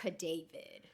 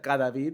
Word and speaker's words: Cadavid: So it's Cadavid. Gotcha. Yeah, I would have said Cadavid, which Yeah, I'm sure you've heard I before.